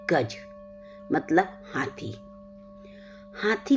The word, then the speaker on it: गज: पद्धति के बारे में जानेंगे यह रे पद्धति गज रे पद्धति जिसे कई जगह में गाजा री